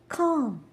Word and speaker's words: calm: calm, palm, balm, salmon. Can you hear L anywhere?